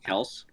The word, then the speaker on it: Kelce: It's actually pronounced Kels.